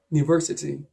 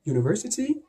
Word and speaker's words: university: you would notice that this very vowel in university is pronounced just the same as this consonant in yogurt yogurt so the same